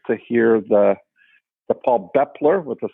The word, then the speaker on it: Baeppler: The A is silent. So, Bepler. Bepler, okay, great.